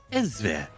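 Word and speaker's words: Elsweyr: one like to remind you that it is pronounced elere not actually elsewhere you know because the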